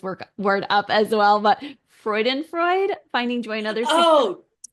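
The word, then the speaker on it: Freudenfreude: And I am going to mess this word up as well, but Freudenfreud, finding joy in others. Oh, Can you tell uh, us, or how do you pronounce that? yes, Freud and Freud.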